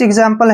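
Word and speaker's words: example: ए क्या है वावल जब भी एक्स के बाद कोई वावल आता है तो वहां पर का उच्चारण ग ज के रूप में करते हैं एग्जांपल जैसे नेक्स्ट वर्ड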